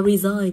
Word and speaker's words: resign: Đọc là resign thì cô có re là y mà resign là i là ghép của a với y.